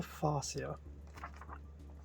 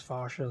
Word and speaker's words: Farsia: original fascia um manual it does make me wonder if it's supposed to be pronounced as fascia or farsier anyway I'm pronouncing it as fascia so yeah so in